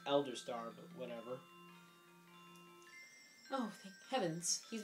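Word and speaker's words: Eldstar: the first one that's going to talk is l star supposed to be pronounced elder star but whatever oh heavens he's a great danger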